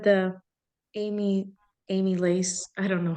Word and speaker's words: amylase: So you said the amylase, I don't know how to say it, I'm sorry. Amylase.